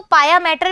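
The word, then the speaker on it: pia mater: तो हम लिख दें इसको, इसको हम लिख देते हैं पिया मैटर। ठीक है, लोग इसको पाया मैटर भी कहते हैं, लेकिन पिया मैटर इज अ करेक्ट ये प्रोनाउंसिएशन।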